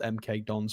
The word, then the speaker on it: MK Dons: Yes, I know it's pronounced MK Dons, but I live in the Midlands at the moment, and we call them McDongs because we don't like them.